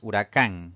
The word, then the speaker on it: huracán: Si dividimos en sílabas, pues tiene 3 sílabas. La mayor fuerza de voz recae en la última sílaba, contando de derecha a izquierda. Eso la convierte en una palabra aguda y va a llevar tilde porque termina en una vocal.